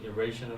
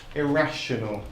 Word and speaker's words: irrational: I had an irrational fear of raising my hand in class. Yeah, too shy to raise your hand. Again, just pronunciation, irrational. Irrational. So that stresses on that rat, irrational.